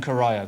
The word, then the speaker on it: Corio: It's Corio. It's a great big bay just off Geelong. Sorry to know it by the water. Sorry to the people in Corio.